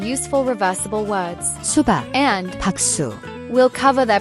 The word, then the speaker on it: 박수: The second word is 박수. which is formed by reversing the syllables of.